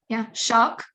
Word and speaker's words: шаг: So for example, the Russian word for, let's say, step, shok, it's spelled sh-a-g, but the g is at the end, so it's pronounced hard like a k.